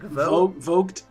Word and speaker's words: Vogt: It's not Voight, right? It's like Vogt.